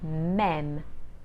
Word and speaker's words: même: the following words men it has the actual circumflex that goes up so your mouth will automatically open wide meme that goes backwards so